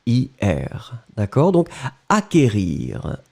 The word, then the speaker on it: acquérir: qu une accent aigu r ir d'accord donc acquérir acquérir le sait qu en fait vous ne prononcez pas vraiment de 2,2 vous n'allez pas